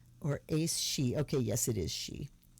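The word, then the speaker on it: Aes Sidhe: Hades was Lily and black tourmaline of course um Sphinx was Acacia and Barrel and then she I wish she gave pronunciations or Ace she okay yes it is she or a-e-s-s-i-d-h-e I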